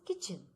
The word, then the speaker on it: kitchen: It is kitchen. So T is the silent letter.